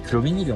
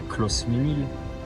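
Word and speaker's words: Closmenil: Non, mais on dit Cloménil. On dit pas close ménil.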